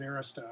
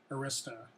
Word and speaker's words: Arista: And it's kind of like Arista. I've always pronounced it Arista, and I've heard people now say it's Arista. So I'm sure that's the correct way to pronounce it, as I'm sure DRAM is the way to pronounce this.